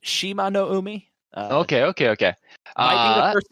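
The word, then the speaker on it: Shimanoumi: uh who's this person i believe it's pronounced shima no umi okay okay okay the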